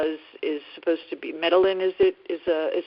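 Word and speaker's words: Medellín: area to consider yeah they say medine in um Spanish because down there they pronounce a double L like a j um but in in uh much of the Spanish speaking world that would be medine but either way it's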